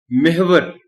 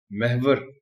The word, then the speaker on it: محور: آپ نوٹ کر لیں، ہم عام طور پر اس لفظ کو محور بولتے اور پڑھتے ہیں، جبکہ اس کا صحیح تلفظ محور ہے۔ محور کے معنی ہے